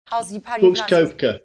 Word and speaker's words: Koepka: is Brooks cope cope out how do you pronounce his Brooks koepka yeah yeah is there value on him would